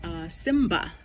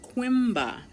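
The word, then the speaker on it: Coimbra: So I actually consigned in the city of Simba. Yes, no, how you pronounce it? Quimba.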